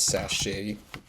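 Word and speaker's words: sashay: Actually, don't know this, but because sachet rhymes with away, it sounds like it's something that they'd use in a like an elimination, like a you're fired type thing.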